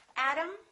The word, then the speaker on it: atom: Atom, atom. Exactly the same pronunciation. This syllable is stressed. This syllable is stressed. This O is reduced. This A is reduced. Therefore, they are the same sound. And remember, T between two vowels sounds exactly like the D.